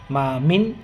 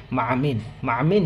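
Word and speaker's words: مع: তাহলে সেক্ষেত্রে আমরা মা মিন মা মিন এভাবে স্বাভাবিকভাবে বলবো না। বলার সময় মার সাথে যাতে আইনটাও উচ্চারণ হয়, সেক্ষেত্রে সেদিকে আমাদেরকে খেয়াল রাখতেই হবে। মা আমিন জি তিনতে।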